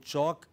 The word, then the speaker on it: chalk: In chalk, L is silent.